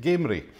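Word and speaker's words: Gamrie: and although it says gardens down the locals pronounce it gamery so that's a wonderful colorful view of gamery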